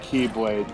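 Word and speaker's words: χ-blade: the speed blade because it was because it's pronounced keyblade but it looks like she to me but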